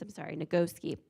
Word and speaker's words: Nagoski: Because Emily Nagoski and her sister, the Nagoski twins, Nagoski is how you pronounce it.